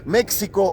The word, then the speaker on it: México: hoy día solía llamarlos méxico o mexicanos sin saber que la equis esos la pronuncian como jota esto me lo acaba